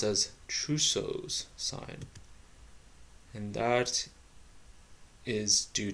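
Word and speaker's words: Trousseau: double check the true Souls so it's actually pronounced as trusos sign and that's is due to hypokalemia which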